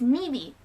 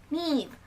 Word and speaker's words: Neve: Like, it's Nivy, Neve.